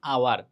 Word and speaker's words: hour: The story of অ্যান আওয়ার। দেখো এখানে কিন্তু এইচ হচ্ছে কি, আমরা জানি ভাওয়েলের আগে এন বসে, কিন্তু এইচের উচ্চারণ না হওয়ার কারণে এর আগে এন বসছে।